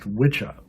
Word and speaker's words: wicca: wicca which is supposedly it's actually originally pronounced witcha in old english and you can look